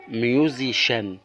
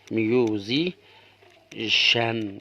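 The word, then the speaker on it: musician: او رابع او خامس هنا الاي صوت الياء الاي صوت الالف الام صوت النون نيجي نقراها ميوزيشن ميو ميوزيشن نيجي نجمعها ميو زي ميوزي شان ميوزيشان يعني موسيقار او ملحن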